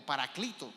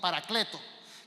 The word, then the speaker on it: Paracleto: en griego es el paracleto o paraclito paracleto la e y la y yo la pronuncio como es en español es e o I paracleto que es el abogado